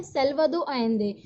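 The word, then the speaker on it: Salvador Allende: इसको हम कैसे प्रोनाउंस करते हैं, सैल्वाडोर एलेंदे।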